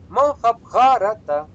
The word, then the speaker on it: Махабхарата: Да, то есть раз предпоследний краткий, то есть недолгий, то мы ставим уже хотим не хотим, деваться некуда, да, все правильно. Махабхарата.